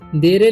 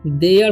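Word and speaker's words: there: पर है देयर ठीक देरे नहीं पढ़ेंगे इसे देयर पढ़ेंगे जभी लास्ट में ई आर ई आए किसी वर्ड के तो पढ़ना है उसे ए पढ़ना है एयर ठीक यानी कि इसका उच्चारण हो जाएगा देयर देयर आर फाइव ठीक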